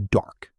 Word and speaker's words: dark: For example, I walk my dog in the dark. Let's repeat it. Dark. Dark. Make a strong K sound at the end.